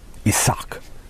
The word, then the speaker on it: Isaac: dropped by the Persians, probably because in Hebrew the accent fell on the last syllable. Isaac.